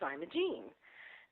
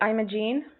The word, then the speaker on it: Imogene: past whose name was Imogene and so when you shorten that to Jeannie I thought that would be great to just make her the yarn Genie oh so you've pronounced it I'm a gene I'm a gene I'm